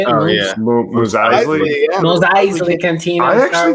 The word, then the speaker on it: Mos Eisley: Mos Eisley.